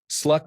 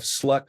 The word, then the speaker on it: slut: say that you have slut on apples because there are no more left. It is not pronounced like the English word slut. The U is pronounced more like the first U in ukulele.